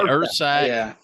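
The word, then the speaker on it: Ursack: a bear canister the the years saac is that how you pronounce it Ur saac I've heard it ERS saac Ur saac yeah unless I have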